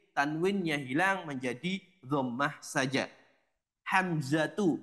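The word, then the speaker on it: حمزة: hilang menjadi domah saja hamzatu bukan hamzatun Namun hamzatu thhatu bukan thhatun usamatu bukan usamatun muawiyatu bukan muawiyatun dan iqrimatu bukan ikrimatun semuanya yang berakhiran tak marbutah nama laki-laki yang berakhiran tak marbutah maka dia dibaca dengan dah saja tidak ada tanwinnya sebagaimana di sini setelahnya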